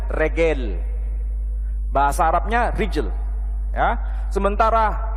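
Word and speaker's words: רגל: Makanya kalau bahasa Arabnya itu rijil, kaki, mereka menyebutnya regel.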